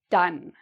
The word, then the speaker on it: done: The past participle is: "done", "done", "un", "done". So, this... the "o" in this is not: "don"; it's a smaller "o" sound — it's: "un", "done".